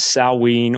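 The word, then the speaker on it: Samhain: or All Souls of the GAA most often pronounced as saween or Sinn as well as the Feast of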